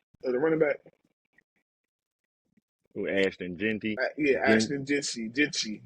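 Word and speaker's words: Jeanty: Ashton Genty. Yeah, Ashton Jensy. Jensy. Jensy.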